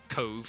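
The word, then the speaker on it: Cobh: So, like, if you Google Cove, it's spelled C-O-B-H, because Irish.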